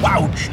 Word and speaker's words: wouch: It's pronounced wouch, John. Spelled as it sounds. Wow and ouch.